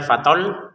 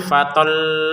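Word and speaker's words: فطل: Perhatikan di atasnya lam ada tasdid. Tetap kita bacanya tekan ya, jangan sekedar fatol selesai. Harus tekan fatol gitu ya. Ya tekanannya jangan keterlaluan ya, biasa saja kan.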